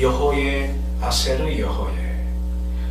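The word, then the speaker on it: אֶהְיֶה אֲשֶׁר אֶהְיֶה: 이거를 고대 아람어로서 이렇게 발음합니다. 여호의 아세르 여호예.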